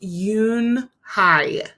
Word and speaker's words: Unhei: turned to joey she nodded slowly yes it's pronounced yoon hi and it means grace mr kim added yoon